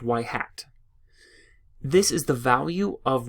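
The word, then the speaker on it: ŷ: right here this symbol this Y with a hat on the top is pronounced Y hat this is the value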